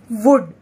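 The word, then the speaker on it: would: तो पढ़ते हैं डब्ल्यू ओ यू एल डी, क्या बना? वुड। क्या बना? वुड। तो आप देख रहे हैं इसमें एल की आवाज तो बिल्कुल ऐसे लगी नहीं रही कि आ रही है, तो एल जो है वो इसमें साइलेंट है।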